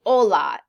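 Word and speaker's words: hola: where you go so Ola in Spanish they do not pronounce their hes when they're at the beginning of a sentence Ola is hello buenos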